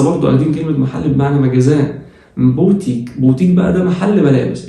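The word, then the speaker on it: magasin: الاس بين حرفين متحركين بتتنطق زد. مجاز، مجاز اهي بين حرف الا حرف الاي تبقى مجاز، مجاز.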